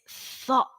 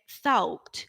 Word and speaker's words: thought: Now is the moment to listen to me and repeat after me because it's thought. Okay, we've got that th sound, and then ought. Okay, es que siempre me dicen thought o thought, porque se